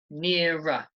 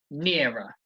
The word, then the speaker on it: nearer: Nearer, nearer. Notice how the stress is on the first syllable, okay? Nearer, nearer.